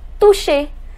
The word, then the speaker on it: toucher: Remember I told you the pronunciation of CH is sh, so it becomes toucher.